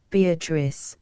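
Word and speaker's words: Beatrice: oft will tell note beatric I use this word as it is pronounced in the Italian as consisting of four syllables of which the third is a long one she then was silent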